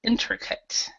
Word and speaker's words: intricate: intricate intricate yeah intricate so even though it has the at at we actually say say it like cut intricate intricate all right now